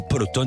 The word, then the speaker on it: Peloton: vélos d'appartements de luxe, la marque Peloton, ou Peloton si on prononce à l'américaine.